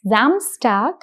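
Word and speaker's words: Samstag: which is SR and S O as in Zamstag and zontag. So Zamstag if you notice the pronunciation of SR becomes Z.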